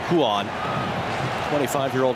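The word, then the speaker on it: Ruan: ball brazilian portuguese yes it is spelled with an r and is pronounced with sort of an h sound huon 25 year old right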